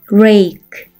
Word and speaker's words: rake: R, R. A는 A, K는 K, E는 발음이 나지 않죠? 한 번에 읽으면 rake, rake.